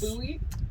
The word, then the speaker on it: Bowie: Is that Anyway, why you say it's- buoy? No, it's because that's how the guy who made the buoy pronounced his name.